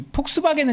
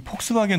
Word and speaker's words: Volkswagen: 그 지금 폭스바겐 논란이 좀 있는데 저는 이제 늘 폴크스바겐이라고 가능한 하거든요. 아, 그 독일식 발음인가요, 그게? 그건 독일식 발음이죠.